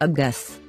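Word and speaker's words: אגס: gus means pear the nickeled signs in the word a are a short vowel ah and a long vowel so we say a guess a guess and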